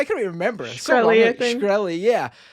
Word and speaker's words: Shkreli: Shkreli, I think.